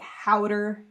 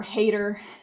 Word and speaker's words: Hauter: I guess how oh they say like howder that's that's correct howder or hater I yeah I haven't